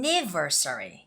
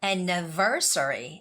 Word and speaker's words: anniversary: RS ARR sry but you don't have to say anniversary and never sorry no it's more like an anniversary anniversary now this happens again